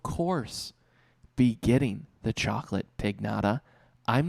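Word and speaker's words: Pignada: 50th with a chocolate pig nada now you might be saying conor it's pronounced pinata i know how it's pronounced i've had birthday parties before i'm talking about a pig nada p-i-g-n-a it's a chocolate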